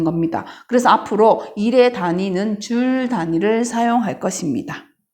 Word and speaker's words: 줄: 어떤 단위냐 하면 바로 J, 대문자 J라고 썼고 이걸 읽을 때 어떻게 읽느냐? 줄이라고 읽으면 됩니다. 즉 1뉴턴의 힘으로 물체를 1m 이동시켰을 때 한 일의 양은 1줄이다 라고 보면 되는 겁니다. 그래서 앞으로 일의 단위는 줄 단위를 사용할 것입니다.